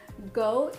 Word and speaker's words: goat: GOAT is actually a abbreviation, or it's an acronym for greatest of all time. Even though, yes, it is pronounced like the animal goat, but it means greatest of all time.